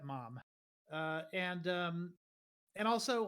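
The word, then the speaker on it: Maugham: called the somerset mom m-a-u-g-h-m I believe pronounced like you know Somerset mom uh and um and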